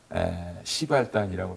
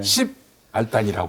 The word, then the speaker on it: 십알단: 근데 이제 손석희 씨가 시발단이라고 하면 좀 아무래도 좀 듣기가 좀 발음이. 그래서 예, 예. 10알단이라고 하더라고요. 아, 10알단. 네, 그러나 시발단이 맞습니다.